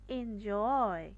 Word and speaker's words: enjoy: বা জোর করেই বলব দেন আছে এনজয় তাহলে এনটাকে আমরা খুব স্নিগ্ধ করে বলব আর জয়টাকে খুব চাপ দিয়ে বা জোর করে বা এমফাসাইজ করে